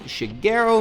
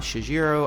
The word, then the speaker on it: Shigeru: It's Shigeru Miyamoto, not Shigeru. I know, hard G, not a soft G.